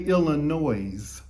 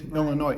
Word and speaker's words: Illinois: mispronounce it they'd say illinois like there's e on the end and we'd say there's no noise right illinois it's a french word they're the fighting illini